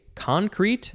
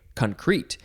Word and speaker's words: concrete: Now, you can say concrete, emphasize the first syllable, or you can say concrete, and it really depends on the form.